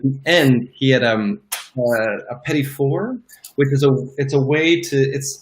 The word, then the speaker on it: petit four: Pronounced petit four. Yeah, it's like little four.